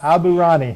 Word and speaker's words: Aburaneh: get your name right didn't I when I pronounced your name yes you did yes you did abani Abu Rani I even practiced it so many times before